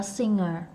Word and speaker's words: singer: Singer, ngờ nha, ngờ nha, không có g nha. G là quê đó, giờ này học tới đây mà còn g là quê nha quý vị.